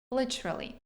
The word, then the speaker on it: literally: Literally, literally. Не можу я його вимовити так, як вимовляють американці. Ось давайте послухаємо. За рахунок flap t. От т, яка звучить як д, якась швиденька така, не вдається мені його вимовити.